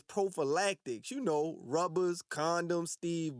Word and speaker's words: prophylactics: By wearing problematics. Sean, your old non-pronouncing ass. The word is prophylactics.